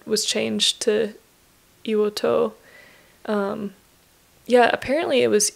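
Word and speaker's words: 硫黄島: put you know if depending on the character preceding that character the pronunciation can change so Shima changes to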